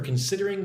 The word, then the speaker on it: considering: Thank you for considering my application. Considering considering second syllable gets the emphasis sid.